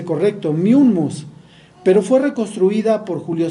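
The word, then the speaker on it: Mummius: Bueno, Corinto fue destruida por Miummus en el 146 a.C., y así lo pronuncié correcto, Miummus, pero fue reconstruida por Julio César en el 44 a.C.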